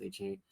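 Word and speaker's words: Achane: But Devin A Chain or whatever, I think it's pronounced A Chain.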